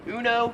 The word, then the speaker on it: uno: Yeah, Uno makes sense. That's how it's supposed to be pronounced. No offense on this one. it is uno because it's a Spanish word. It's not even an English word.